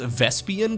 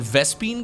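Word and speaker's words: Vespene: it might be canon, because I think it's Swan in the Wings of Liberty campaign who says Vespian gas rather than Vespine gas. So it might be canon, you know? Maybe both of the pronunciations are actually fine.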